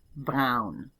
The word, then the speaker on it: Braun: Braun. That's almost like brown. It's just got kind of a throaty R. Brown instead of brown.